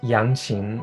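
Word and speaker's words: 扬琴: all how do you pronounce it it's pronounced yanchin and it's also called the chinese hammered dulcimer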